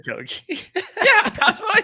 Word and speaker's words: Okogie: I'm scared to pronounce his name because I got ridiculed in chat earlier. What? Okogie. Oh, dude, you said Okogie. How do you say it? It's Okogie.